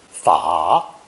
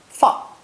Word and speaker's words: 法: This character is pronounced third tone, 法, 法, and sometimes fourth tone, 法, 法, capitalized because it's used in a proper name.